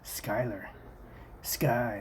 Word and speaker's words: Schuyler: amendment to 41 year-old Schuyler pronounced Schuyler sky third major general I